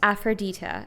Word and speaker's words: Aphrodita: So, yeah, it's pronounced Aphrodita. And Aphrodita, it pertains to my YouTube channel that has my face on it, and it's a play on words, the word Aphrodite, the name Aphrodite, and actually my real name.